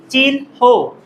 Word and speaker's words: চিহ্ন: ন আমরা এটাকে বলি চিহ্ন নাকি যেন এভাবে উচ্চারণ করি চিহ্ন বা রাইট প্রনান্সিয়েশন ইজ চিহ্ন চিনহ চিহন একইভাবে যেহেতু আমরা এটা পড়িয়ে ফেললাম তাহলে